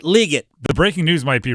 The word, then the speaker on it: Legette: that's very good thank you uh it is pronounced Xavier leate not Legette or not Legette it's legate according to Xavier